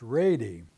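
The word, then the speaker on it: Wrede: He married Bertha Reed, and that Reed is spelled W-R-E-D-E. And my grandmother always said it was pronounced Rady.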